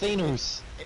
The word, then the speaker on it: Thanos: to him, no, Yeah, it's Thanos. it's Thanos. It comes from the word Thanatos, which is a Greek word.